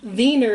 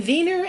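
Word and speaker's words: Wiener: we're going to make vener snitchel vener snitel is a Pennsylvania German Dutch dish and vener actually starts with a w but you pronounce it with a V and what it is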